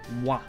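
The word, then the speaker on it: は: everyone's favorite wa wow this character is the hot character but when we use it as a particle it's pronounced wah this is our topic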